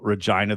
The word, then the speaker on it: Regina: Um I honestly only know Deadpool because of A, Ryan Reynolds, and B, the whole Regina, the city that rhymes with fun.